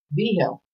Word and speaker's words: Vigil: No, that's a Spanish last name. How do you pronounce it? Was it B-I or B? B. Oh, I said B. We're so damn old. We don't know what the hell he said. B. Vigil. B-Hill.